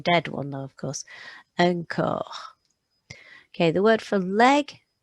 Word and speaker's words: corps: Okay, this word for body, the P and the S is silent. It's got the O sound in the middle with a ch, so you pronounce it un corps, un corps.